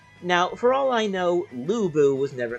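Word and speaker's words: Lü Bu: Lu Bu is no longer Lu Bu. He is now Louis Bu, which, try as I might, my ears can't get completely used to.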